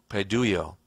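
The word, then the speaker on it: παιδεύω: are also chase and pronounced in the Greek padoo yo which means to Train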